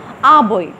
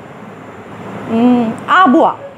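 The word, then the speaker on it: Arbois: When he वाज 2 years old his father his family moved from डोल टू आबोई। आबोइस हम इसको लिखेंगे आबोइस, लेकिन चूँकि ये एक फ्रेंच वर्ड है इसलिए इसकी प्रोनाउंसिएशन है आबुआ।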